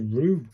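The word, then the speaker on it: る: Pronounced like the R-E-W in brew. So it's a roo, isn't it? This is a roo.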